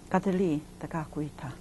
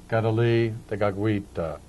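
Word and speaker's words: Kateri Tekakwitha: by various groups of people, but the correct pronunciation in Mohawk, Kadali Tagakwita. Gadali Dagagwita in Mohawk.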